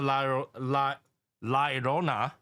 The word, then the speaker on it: La Llorona: Now, see, this whole time I thought it was La Llorona because it's L. Llorona. But apparently it's pronounced with Y.